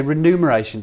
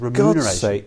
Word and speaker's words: remuneration: he's trying to say it's a bit like remuneration or renumeration cuz people always say renumeration don't they can you can I be renumerated and of course it's remuneration s somebody shut him